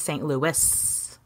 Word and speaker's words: St. Louis: And overwhelmingly, everyone was like, it's St. Louis. You pronounce the S.